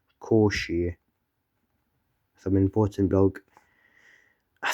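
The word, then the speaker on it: Cauchy: called residue theorem made by a guy called Koshi. Some important blog I said bloke in 2025 from top screen. It's not pronounced couchi. I I used to say couchi but it's actually koshi.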